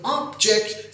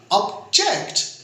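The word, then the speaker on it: object: इसको कहा ऑब्जेक्ट, तो ऑब्जेक्ट स्ट्रेस देने से पहले सिलेबल में ये एज ए नाउन हो जाएगा, कोई मफूल या कोई काम, ऑब्जेक्ट। अगर इसको यूं प्रोनाउंस किया ऑब्जेक्ट, तो ऑब्जेक्ट, जेक्ट पे जोर डालने से, स्ट्रेस डालने से और मायने चेंज हो जाएंगे। ये एज ए वर्ब बन जाएगा, एतराज करना।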